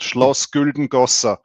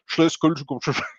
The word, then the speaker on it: Schloss Güldengossa: By the way, it's don't listen to International Stacker. He's not able to pronounce that correctly. Yeah, it's called Schloss Güldengossa.